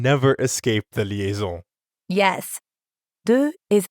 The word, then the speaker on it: deux: De is actually spelled with a silent letter X at the end. But when we add a vowel sound after it, like in euro, we end up with a liaison that has a Z sound.